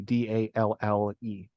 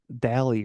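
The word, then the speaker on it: DALL-E: out there is called Dolly, Dalle. Oh, that's how you say it. I was pronouncing it like Dally or something in my head.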